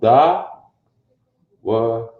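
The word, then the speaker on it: דוד: this now watch this his name again in the Hebrew is pronounced da wha somehow they translated that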